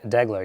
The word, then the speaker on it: Deagler: me and I had a fear that I mispronounced your name did I get it degler degler yes I got corrected right before it it's